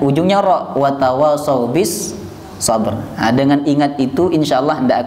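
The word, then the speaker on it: الصبر: Wa tawasau bis sabr. Banyak orang yang keliru baca ayat ini. Dibacanya wa tawasau bis sabri wa tawasau bil haqq. Kuali ya. Cara ngingatnya gampang Bapak Ibu. Ingat-ingat bahwa ujungnya semua huruf ra.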